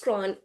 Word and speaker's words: CRWN: She is the founder and chief learning officer of CRWN Institute, pronounced Cron, and creator of the Cron framework.